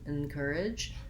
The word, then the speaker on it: encourage: encourage and and courage thinking about it as the letter n um is also helpful and encourage that i'm not doing much vowel there at all so really i'm kind of focusing on that consonant sound and getting to my stressed syllable of cur courage the